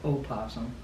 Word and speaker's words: opossum: Or possum is spelled opossum. It's got an O in front.